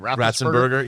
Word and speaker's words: Ratzenberger: John, how do you pronounce John's last name? Ratzenberger.